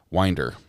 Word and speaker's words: Winder: It's pronounced wind like wind, wind like wind your watch. Winder.